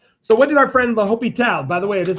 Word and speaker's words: L'Hôpital: Okay, there's some people that don't know how to pronounce this and would say that. We took the hospital route. No, we didn't. We took L'Hôpital. It is French if you don't know.